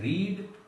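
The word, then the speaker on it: read: रीड, इसके तीनों form रीड ही होते हैं, बस बोलने का डिफरेंस आता है। अगर हम इसको कहते हैं रीड तो इसके सेकंड और थर्ड फॉर्म को रेड पढ़ा जाता है।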